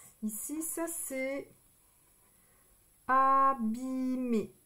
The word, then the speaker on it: abîmer: Ici, ça, c'est abîmer. E et R, ça fait le son E. Abîmer.